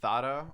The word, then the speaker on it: Zara: Well, they pronounce it Thada over there, so it was fucked up.